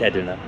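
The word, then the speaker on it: Edirne: You know, it's taken me a month, lower month to go from Mardin to Edna, which I pronounced as Erdin in the very first video, but it's it's Edna.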